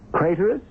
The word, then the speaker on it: Craterus: Craterus, which rhymes with traitorous.